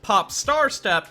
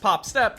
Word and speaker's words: Pop☆Step: name pop star step which I have been pronouncing this entire video as pop star step instead of just pop step because the first part